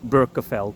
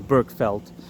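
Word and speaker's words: Berkeveld: d at the end so in English the best the closest you would come to being able to pronounce it would be berkeville or Burke felt something along those lines honestly either it doesn't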